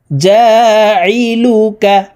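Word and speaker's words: جاعلك: জা আইন জেরি জা আইন হরফকে হালুকের মধ্যখান থেকে চাপ দিয়ে উচ্চারণ করতে হবে কারণ আইনের মাখরাজ হালকের মধ্যখান থেকে হবে জা লাম পেশ লু কাফ জবর কা জালুকা লাম নুন জের লিন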